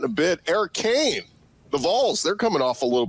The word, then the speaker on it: Vols: Vols.